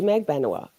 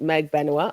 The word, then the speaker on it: Magbanua: Ooh, so Katie Magbanua, and anybody who says it any other way is wrong. It's 1,000,000,000% Magbanua. I know I'm not necessarily trustworthy on the pronunciation of some words.